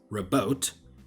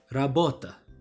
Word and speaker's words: rabota: So if you see a word like this, you could remember that it's not pronounced as rabot, but as rabota.